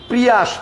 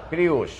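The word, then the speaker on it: Prius: আমরা সবাই বলি কি প্রিয়াস, প্রিয়াস, টয়োটা প্রিয়াস, আমরা সবাই ভুল বলি। ওটার নাম তো প্রিয়াস না, প্রিউস, পিউষ, প্রিউস, প্রিউষ, প্রিউস, প্রিউষ, উষ, প্রিউস।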